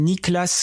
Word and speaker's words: Niklas: Je suis tombé sur une chaîne YouTube, il s'appelle Niklas Crystal. Je sais pas si je le prononce bien, mais c'est en gros Nicolas, mais sans le O, je crois.